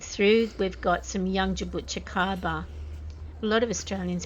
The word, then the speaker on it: jabuticaba: we've got some young jabuticaba. A lot of Australians pronounce it as jaboticaba, I think they say, but the Brazilian term is jabuticaba.